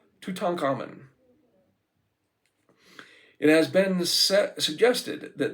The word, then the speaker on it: Tutankhamun: Tutankhamun.